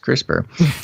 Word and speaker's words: CRISPR: editing on human embryos with the crispr technique pronounced crispr the technique is based on a molecular system